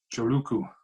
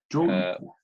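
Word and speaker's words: Joulukuu: Joluku. Thank you. Joluku. Which is December in Finnish.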